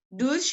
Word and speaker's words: durch: Durch ini memang tulisannya durch ya. Tapi orang Jerman lebih senang bacanya durch.